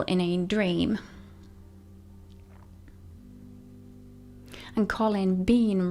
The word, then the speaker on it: Bean: And Colin, Bean rhymes with scene.